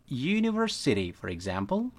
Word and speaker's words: universe: misalnya kita temukan kata Universe nah walaupun ini hurufnya o tapi ini dibacanya iya ya you seperti ini Jadi ini tetap